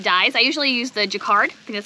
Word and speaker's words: Jacquard: fiber or acid dyes i usually use the jacquard because that's how you say it approximately one